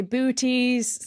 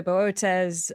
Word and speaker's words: Boötes: some people say booties some people say bootes I'm not entirely sure which one is correct I kind of say booties in my head but then I was like no aie says b so remembered that for the episodes and I was really